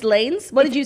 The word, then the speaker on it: Lanez: According to my track record of pronunciations, you pronounced Tory Lanez's name wrong yesterday. It's Lanes? What did you say? It's Lanes, and I said Lanez, which is really...